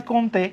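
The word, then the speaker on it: Comte: উচ্চারণ হয় কমতে। কিন্তু বাংলায় এটা কোত।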